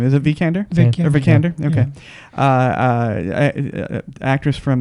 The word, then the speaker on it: Vikander: How do you pronounce her last name? Is it Vikander?